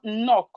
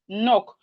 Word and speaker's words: knock: Knife, we have knee, we have no, we have neat, we have knock, knife, knee, no, neat, knock. The K in these words are silent. The K is silent.